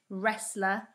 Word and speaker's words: wrestler: n with the w the w becomes a silent letter if it comes before the letter r at the start of a word so for example writer wreckage wrestler wrinkle and wreath this